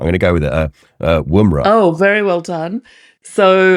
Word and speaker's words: Woomera: So yeah, take us to Australia, and I'm going to inevitably pronounce this wrong. I'm going to go with it, Woomera.